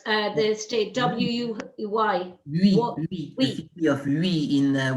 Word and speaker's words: Huy: But you found out that he was buried somewhere within, how do you pronounce the state? W-U-Y? Louis, the city of Louis in what is Belgium nowadays.